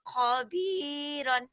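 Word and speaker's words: خبيرا: Ini bukan ko tapi kho ya. Orang Jawa kho jadi ko. Kana aliman kabiran. Kana penekanan di mad. Kana aliman khobiron. Ditekan-tekan nggak apa-apa. Kok gitu? Kana aliman khabiran.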